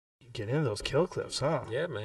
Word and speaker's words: Kill Cliff: winning energy kale cliff spelled k i l l c l i f f pronounced kill cliff noun definition 100 winning in